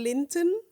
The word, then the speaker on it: Linton: I came to the UK in 2004 to work for my employer in Cambridgeshire, in a small village called Linton, yeah, that's how you say it.